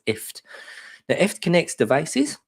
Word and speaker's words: IFTTT: know her answers properly it's called ift so press as in gift as a gift you give someone but without the the go so it's ift now if it connects